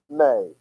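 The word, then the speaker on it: μή: the first word is May it's like the month of May it's actually spelled me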